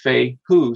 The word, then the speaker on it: fehu: f-e-h-u and it was it's pronounced fei who so they would say f-a-y-h-o-o so most of the